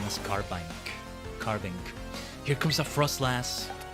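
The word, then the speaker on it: Carbink: Anything I used to pronounce that Pokemon's name is Carbank.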